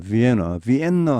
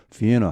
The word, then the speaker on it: Vienna: 이 발음은 비엔나입니다. 비엔나 하시면 안 됩니다. 영어에서는 자음이 2개 겹치면 그중 한 개 자음만 발음을 해줍니다. 이렇게 비엔나 한 개처럼 하시면 되겠습니다.